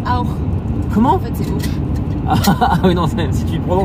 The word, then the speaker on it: Auch: En fait, c'est Auch. Ah oui, non, si tu le prononces à l'allemand, ça fait Auch.